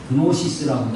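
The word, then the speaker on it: Gnosis: 이게 이제 이 그노시스라고도 하고 원래 앞에 그한테 귀가 묵음이라서 노스틱, 귀를 발음 안 하는 사람도 있고 그냥 발음하는 그노시스라고 하고 노스틱시즘이라고 하는 영주주의가 있어요.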